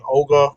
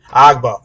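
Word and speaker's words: Ogbah: Ogba. I don't know how to say his name. Agba? Yeah. Agba. That's good.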